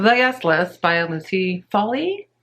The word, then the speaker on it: Foley: guest list by lucy foley i think it's pronounced folly is a murder mystery